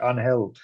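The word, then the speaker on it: Ángel: As a Spanish as a honorary Spanish person this week, Angel is the pronunciation.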